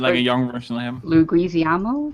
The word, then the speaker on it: Leguizamo: But I like John Leguizamo as like a Wait. young version of him. Luguizamo, I think it's pronounced, but he's also like Leguizamo.